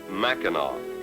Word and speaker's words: Mackinac: i'm sure you know mackinac is spelled mackinac ending in ac but as we were repeatedly cautioned aboard ship michiganders pronounce it mackinac a city ordinance prohibits